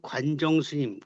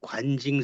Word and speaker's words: 관정: 그다음에 그 관정스님 관정 스님인데 이제 원래 중국말로는 관증이에요. 그래 관징 스님이라 그러죠. 관징이라고도 쓰고 관정이라고도 쓰여 있죠. 헷갈리고 있는데 글자 틀린게 아니고 중국 이름으로 발음하면 관징 스님. 관징 스님이고 그걸 한국식으로 읽으면 관정 스님이에요.